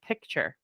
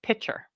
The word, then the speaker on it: picture: this and say, okay, I pronounce the word picture. So I pronounce this picture, but some people pronounce it pitcher. And either one is going to be accepted based on how we set it up in the background. Pitcher. And that comes up correct because regionally throughout the US, how this word is pronounced is different from place to place.